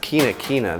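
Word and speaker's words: Quinquina: That is pronounced quina quina.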